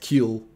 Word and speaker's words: Kiel: other day saying uh please tell this man it's pronounced keel and not kiel um